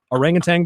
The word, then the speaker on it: orangutan: cleanest kitchen there is a thing called urban orangutan by the way o ra ng u ta